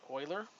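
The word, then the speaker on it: Euler: think mathematician named Leonard Oiler uh that's right it is pronounced Oiler and uh this is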